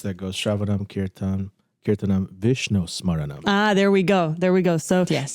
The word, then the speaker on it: smaranam: Because it consists of Shravanam, Kirtanam, and how do you pronounce the last part? Vishnu? Smartanam? Where are you? Shravanam, Kirtanam, Vishnu. Smartanam. It doesn't say No, I don't think that's what Smaranam.